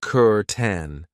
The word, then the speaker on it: curtain: I know it looks like cur, but we pronounce it kuren and this is something that you will find in most Australian homes.